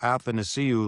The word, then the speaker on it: Athanasiou: And I sort of say, well, Athanasiou, like, glad to see you. It's sort of just like that. Yeah, like for Glad to see you, Lusterinen, Athanasiou.